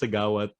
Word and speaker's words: Siggaoat: It's pronounced Siggaoat.